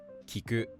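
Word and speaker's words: 聞く: The other pattern that verbs come in is heiban, meaning that they're just pronounced flat. Words like iku, kiku, and musubu use this pattern.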